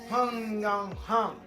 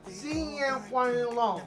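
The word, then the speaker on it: 新年快乐: Hung Yang Hung. No, baby. Oh my God. You said it wrong. Oh, 新年快乐. Sing Yang Kwang Long.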